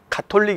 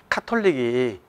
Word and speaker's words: 가톨릭: 그분들이 발음을 하시더라구요 그래서 이제 표준 발음은 가톨릭 이에요 가톨릭은 같아요 그런데 이제 5 옛날은 캐톨릭 탁 콜링 이렇게 바륨 을 했죠 근데 이 가톨릭 이라는 발음이 저의 서 저로서는 상당히 익숙하지 않는 발음 이에요 그래서 카톨릭이 정상적인 발음 같아요 그래서 우리는 이제 카톨릭